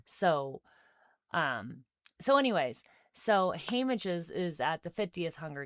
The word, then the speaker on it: Haymitch: Haymitch's, yeah. Haymidge. Haymitch. Not Haymidge. Haymitch. Haymidge. Haymitch. Haymitch. Haymitch. Like Mitchell.